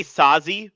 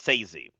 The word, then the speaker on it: Saesee: No, no, I I know he was, but I thought it I say Saesee, but it's Sazee.